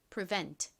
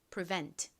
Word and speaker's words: prevent: prevent 다시 해 볼게요. 뒷부분에 힘 주세요. prevent 같이 적어 보겠습니다.